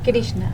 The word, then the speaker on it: Krishna: con nuestra amiga eh la doctora Cómo se pronuncia tu nombre krishna krishna krishna una una divinidad hindú del Amor y